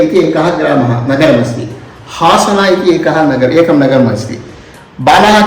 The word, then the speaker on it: हासन: अस्माकं कर्णाटकप्रान्ते आ इति स्वरः अस्ति हा इति एकं व्यञ्जनमस्ति परन्तु अरसीकेरे इति एकः ग्रामः नगरमस्ति हासन इति एकं नगरमस्ति बालाः किं कुर्वन्ति हरसीकेरे आसन इति वदन्ति आ हा द्वयमपि उच्चारणं कर्तुं शक्नुवन्ति परन्तु तत्र परिवर्त्य उच्चारणं कुर्वन्ति